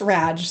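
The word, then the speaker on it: Radsch: pronounce that that sir it's pronounced raj thank you so much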